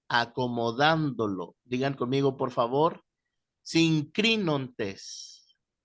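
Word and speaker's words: συγκρίνοντες: Sincrinontes. Sincrinontes.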